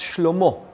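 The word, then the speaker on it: שלמה: His son, Solomon, which in Hebrew is pronounced Shlomo, which means peace.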